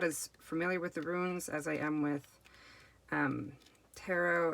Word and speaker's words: runes: The Power of the Runes. And my husband makes fun of me because I have a tendency to say ruins and not runes.